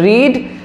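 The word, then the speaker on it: read: রিড spell হবে একই। কিন্তু উচ্চারণটা পাল্টে যাবে। সিম্পল পাস্টে রিড হবে ভিটু ফর্ম উচ্চারণ হবে রেড okay I রেড আই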